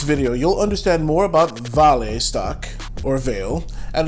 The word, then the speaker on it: Vale: today i'm going over veil or more correctly pronounced vale if you're brazilian veil is currently my